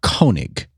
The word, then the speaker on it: Koenig: I'm not in love with Vic Koenig. I believe it's Koenig. Is that how you pronounce it? I looked up the pronunciation guide.